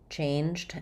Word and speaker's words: change: and charge and charged so change and change we have the a sound the a dip Fong so thinking about it like CH or even like chain right that's change has the the the a sound change and then the letter G says the J sound here changed J so that's